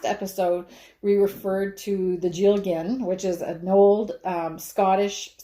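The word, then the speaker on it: dealgan: these in stock, and it's called a Jilgin, but the first letter is D. So you'll see Jilgin in the website, but it's actually pronounced Jilgin or something like that. I'm not sure my Gaelic pronunciation is right on.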